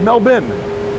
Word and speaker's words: Melbourne: Also, Kristen, yeah, we pronounce it Melbourne over here, not even bun, bin, B-I-N. That's how I'd say it.